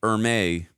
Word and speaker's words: Ermey: In an interview for the DVD, Ermey, there we go, said it right this time,